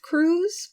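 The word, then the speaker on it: Crewes: Then there's an interview on TV with Cruz for one reason or another. And this is where I learned that his name is not spelled C-R-U-Z, like I thought it was. It's spelled C-R-E-W-E-S. Cruz.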